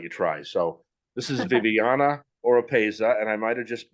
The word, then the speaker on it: Viviana Oropeza: want to let you try so this is Viviana oropeza and I might have just butchered her name I apologize if that was